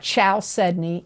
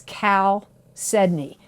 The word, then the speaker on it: chalcedony: capricorn you got chalcedony it's not chow sydney it's cal sydney it's spelled c h